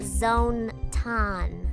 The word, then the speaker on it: Zonton: Between her mascot Zonton, it's pronounced Zone-ton, and the wildly popular